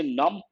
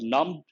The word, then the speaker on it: numb: finger has become num when you say num the letter b is silent but num you have to pronounce it slightly into rapid centrism